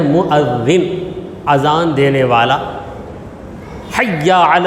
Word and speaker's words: مؤذن: اذان دینے والے مؤذن، موزن کہتے ہیں، وہ یہاں کی زبان ہے موزن، مگر صحیح تلفظ اس کا کیا ہے؟ مؤذن، اذان دینے والا۔ حی علی الصلاۃ 2 مرتبہ، مطلب کیا؟